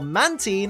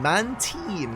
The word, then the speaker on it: Mantine: I believe it's pronounced Mantine. Some people say Mantine, but I've been led to believe that Mantine is incorrect. So I'm going to be saying Mantine for the foreseeable future.